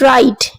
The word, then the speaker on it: write: Next is write. W is silent.